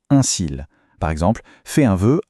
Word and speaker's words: cil: La prononciation est exactement la même. Des cils. C'est le contexte ou l'article qui fait la différence.